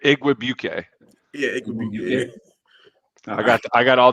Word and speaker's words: Igwebuike: Yeah, Igwebuike. I'm pretty good with the pronunciation. Igwebuike.